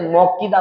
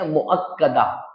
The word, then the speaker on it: مؤکدہ: اکثر لوگ سنت موقدہ بولتے ہیں، موقدہ نہیں ہے، مؤکدہ۔ کیا ہے؟ مؤکدہ، کاف کے اوپر زبر، سنت مؤکدہ، اس کو آپ ذہن میں